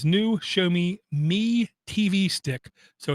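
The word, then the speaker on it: Xiaomi: like two years ago we were told that show me spelled with an X in the beginning show me was looking at making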